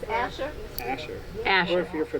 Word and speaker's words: Asher: you had re question different pronunciations of Asher Azure no it's AER it's a she's saying aure with you are yeah but that's not what it is Asher Asher as if you're